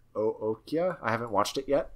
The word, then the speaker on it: Okja: Also, he collaborated with the director of Snowpiercer on a show for Netflix called OKJA, which I think is pronounced Ookja.